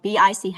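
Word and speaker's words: Bich: So BIC is um spelled B I C H but the pronunciation is BIC.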